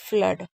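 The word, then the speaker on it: flood: हैं इसलिए फ्लोट फ्लड मैंने बोला ना दो तीन वर्ड ऐसे हैं जिसमें डबल ओ को आ पढ़ते हैं। एक है ब्लड फ्लड ठीक है फ्ल फ्लोर और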